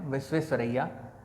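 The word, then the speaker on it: Visvesvaraya: कई लोगों को इनके नाम को प्रोनाउंस करने में बड़ी तकलीफ़ होती है, कई बड़े लोगों को भी दिक्कत हो जाती है और वो नाम इनका प्रोनाउंस नहीं कर पाते, बट इट इज़ एम विश्वेश्वरैया।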